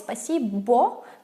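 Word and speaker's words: спасибо: what the foreigners say well no it's spasibo just we don't pronounce the second or because it's like an a it's like ah because it's not under stress and now I'm just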